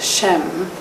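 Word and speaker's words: שם: Everyone has a name and the numerical gamatria value of the Hebrew word for name shm pronounced shem. There are no vowels in the Hebrew alphabet.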